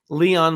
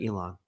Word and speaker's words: Elon: of Minneapolis the website snoops instead of Snopes Leon musk instead of Elon well that's quite a a collection of information